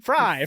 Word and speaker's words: Frei: r e i Ryan tell me how to pronounce my last name fry fry fry fry fry thank you guys